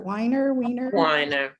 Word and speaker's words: Weiner: So I had to research, and I can tell you though, Jennifer Weiner, how do you pronounce her? Weiner.